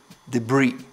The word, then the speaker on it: debris: a silent P 22 debris it's a silent s stuff the breeze or